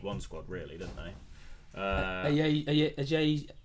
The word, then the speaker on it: Ajayi: Ajay, how do you say it? Semi Ajayi.